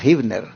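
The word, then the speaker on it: Huebner: de San Antonio esta está en el 16320 hibner Rod interesante se escribe en inglés con hu evner r con h hevner pero se pronuncia hibner Así que 16320 hibner Rod San Antonio Texas 78 248 rentamos en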